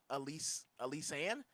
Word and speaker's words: Alyssa Ann: Her name is it's her pronounced Elise Ann, but it's spelled like Alyssa Ann.